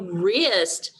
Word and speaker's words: wrist: A wrist. Notice R. The R sound is spelled W-R.